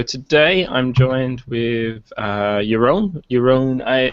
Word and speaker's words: Jeroen: i'm joined with uh your own your own i i always get your surname wrong your own brewer bruh in dutch excellent so uh as